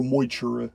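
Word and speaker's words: Magh Tuireadh: fomori during the battle of magtura or moichira as properly pronounced as well as the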